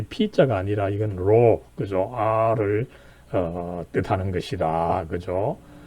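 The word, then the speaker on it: ρ: 이걸 통해서 이제 바로 이 X, 키가 이렇게 있고, 그 다음에 그것을 가로질러서 이로, 이건 P자가 아니라 로, R 발음이 나는 것입니다. 그죠?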